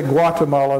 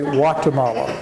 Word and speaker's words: Guatemala: In Spanish they don't pronounce the G. They don't say Guatemala, they say Guatemala.